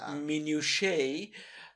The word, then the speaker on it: minutiae: Yeah, but anyway, people like to fight over like theological minutiae. Minutia. Minutia. It's pronounced minutia.